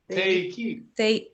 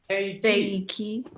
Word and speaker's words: Θεϊκή: Is that called an umlaut where does it make you pronounce the vowels separately? Is that what that? That's the two dots. Yeah, that's what that's telling us. Okay. Otherwise, E, I together is just an E sound.